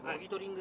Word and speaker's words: 果実狩り: 、まあ、果実狩りと書いてモギトリングと読みます。